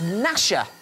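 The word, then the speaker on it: Gnasher: a spider called Dasha my name rhymes with both of them oh just out of time there Megan the answer we were looking for was nasha okay because the time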